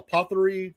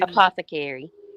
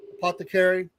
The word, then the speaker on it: apothecary: he's been promoting this God I'm going to mispronounce it a what they call apothey type thing. Apothecary. Apothecary.